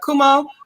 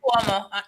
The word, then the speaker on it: Cuomo: Kumo. Is that his name? Is that how you pronounce it? Cuomo.